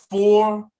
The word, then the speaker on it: forun: Number 5 is forun, forun. Remember, middle letter must be pronounced on the left side and on the right side.